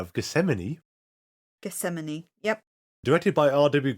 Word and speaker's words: Gethsemane: and do this because I'm really bad at pronouncing this one gamine uh Gethsemane Gethsemane okay so I was right of Gethsemane Gethsemane yep directed by RW Goodwin written by